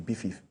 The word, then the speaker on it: BIFIF: So it is pronounced BIFIF. So so the acronym for Badagry International Film Culture and Sport Festival. So it's BIFIF.